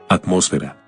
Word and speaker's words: atmósfera: Algunas palabras conocidas como heterotónicas son iguales en ambos idiomas, pero difieren en la sílaba tónica. Academia. Academia. Alergia. Alergia. Atmósfera.